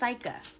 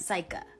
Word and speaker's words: Saika: But in all seriousness, it's pronounced Saika. Good night, go to sleep. Saika. Like, psych.